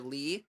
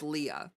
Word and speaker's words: Leah: Oh, is it pronounced Leah or Lee? It's Leah.